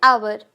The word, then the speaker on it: hour: एन आवर, आवर का spelling है HOUR, लेकिन साउंड आ रहा है आ का, इसलिए एन आवर।